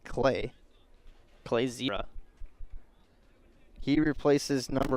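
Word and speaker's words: Klei: Spells his first name K-L-E-I. Pronounced like Clay.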